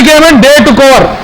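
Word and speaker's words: coup: मि आमी ए मिलिट्री केम president prime minister मि ट स इ अ military overtaking government military taking over the Reece of government we call its क कुन प साइलेंट सो यू से कु मिलिट्री कु और आर्मी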